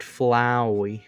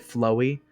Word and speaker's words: Flowey: flowey flow flowy flowery some people i've heard some people unironically called flowey called flowey flowy and i'm like what the hell is wrong with you do you not understand that it's a pun on flower flower flowey flower flower flower flowery flower flowy they're like no bro it's flowy don't you know and it's like no you are wrong i'm sorry everyone has